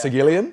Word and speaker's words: Sagilian: Sagilian? Yeah. Yeah, no, you said it right. I mean, with the American accent, that's how it's exactly how it sounds.